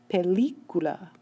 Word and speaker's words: película: You can hear the stress is on the L-I, and yet this word ends in a vowel, so a written accent mark is needed because we have to move the stress over.